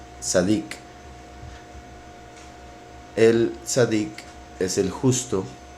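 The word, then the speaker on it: צדיק: Las letras Sadeh representan al justo, que en hebreo significa o se pronuncia Sadik.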